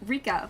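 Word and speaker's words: RICA: And this game is called Rika, but it's spelled with like dots in between, so it's R.I.C.A.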